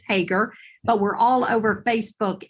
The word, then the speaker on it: Hoegger: Jackie Hager on LinkedIn now Hagar is spelled h GG R it looks like hoger but it's Hagar but we're all over